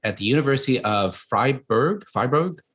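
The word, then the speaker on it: Fribourg: the university of freiburg fybrog how do you say that we say freeburg freeburg there we go it's not german in switzerland he served previously as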